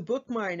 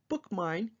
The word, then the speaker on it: BookMyne: It's called BookMine, and it's spelled a little differently. It's BookMyne. And that will give you direct access to StarCat through your mobile device, and you can find the BookMine app in your app store.